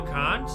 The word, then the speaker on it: Kant: Immanuel Kant? That's how you pronounce Kant's name.